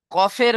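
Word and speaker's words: ق: চলেন, এখন আমরা দেখব কফের মাখরাজ। কফ কোত্থেকে উচ্চারণ হয়? কফ কোত্থেকে উচ্চারণ হয় দেখেন, জিভের গোড়া।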